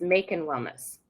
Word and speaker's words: Makin Wellness: much better making wellness it's like you're making Wellness so cute I love